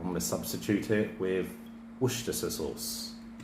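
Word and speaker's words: Worcestershire: So I'm going to substitute it with worstasa sauce. Worster Worersha. That's how you say it. Or Warchester.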